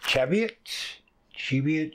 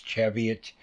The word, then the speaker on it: Cheviot: we'll be working with Cheviot chevio Harvard's pronounced I believe it's Cheviot that's the way most people say it so um again